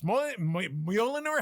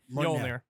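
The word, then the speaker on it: Mjölnir: Mjolnir. What? Mjolnir. Mjolnir. There you Like go. millionaire. There you but go. millionaire. But With an Norwegian. accent. With an accent. Millionaire, but Norwegian.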